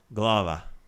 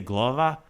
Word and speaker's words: glava: the word for head glava so there I probably deflect to using a dialect of I say glova but it's glava so if I say it pronounced it different ways I'm using dialect there that sometimes I